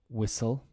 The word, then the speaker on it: whistle: just but just Wednesday whistle yes the tea is dropped and castle the tea